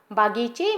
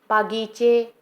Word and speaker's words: बगीचे: उनके घर के पास बागीचे में आम का एक पेड़ था। बच्चों, इन वाक्यों में कुछ अशुद्ध शब्द हैं। बहुत, परिवार, बागीचे, इक।